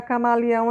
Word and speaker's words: camaleão: Então, por exemplo, vamos pegar camaleão aqui, ó. Camaleão. Camaleão, quando você fala, a parte mais forte é o ão, certo? Então, você coloca aqui que o ão, ele é a sílaba tônica, mais forte.